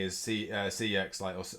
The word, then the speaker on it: CeX: say is see uh cex or sex as they pronounce it um this whole year